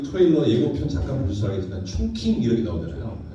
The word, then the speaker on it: 충칭: 중경이라는 도시 좀 전에 그 트레일러 예고편 잠깐 보셔서 알겠지만 충칭 이렇게 나오잖아요. 중경을 발음 이렇게 하는데 충칭이죠, 충칭.